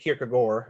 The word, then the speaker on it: Kierkegaard: Kierkegaard Sharon Sharon Abbey kierkegor if you want to say the right Danish pronunciationally so so I hear